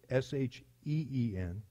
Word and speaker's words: shin: of the Hebrew alphabet and the letter is shin or it's pronounced xin it's SI n but we would pronounce it sh een and it's the letter that the Hebrews had